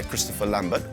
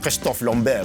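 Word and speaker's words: Christophe Lambert: a MacLeod played by Christopher Lambert well he's French so it should be pronounced Christoph long bare but you know I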